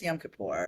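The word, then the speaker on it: Yom Kippur: start yamapur or yam kipper. How do you say it? Well, it depends on it's yam kapor.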